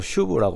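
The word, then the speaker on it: שוב: 히브리어로 슈브라고 발음을 해요.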